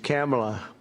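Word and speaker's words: Kamla: Cam as opposed to calm.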